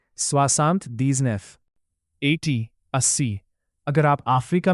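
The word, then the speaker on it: soixante-dix-neuf: इसीलिए 79 का original French में प्रोनाउंसिएशन होगा स्वासांत दीजनेफ। तो बोलिए स्वासांत दीजनेफ।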